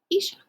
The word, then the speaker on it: Isha: mama and papa sneak this is isha you say it like isha and this is her cat